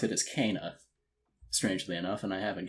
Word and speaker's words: Kena: started all right i can do that so keenan bridge of spirits is about well actually the way you pronounce it is cana strangely enough and i haven't gotten used to